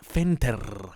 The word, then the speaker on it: Fenter: You got to say it like that, Fenter. Got to roll that R.